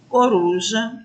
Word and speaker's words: coruja: Na segunda palavra, a gente tem uma sílaba destacada, que é a sílaba ru.